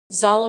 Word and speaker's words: Zala: zala pronounced za la is a small settlement in the